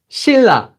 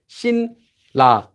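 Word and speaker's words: 신라: This was Shinla, which is pronounced as Shilla, Shilla, Shilla kingdom. So you might have heard of the Shilla kingdom. That was Shinla, Shilla.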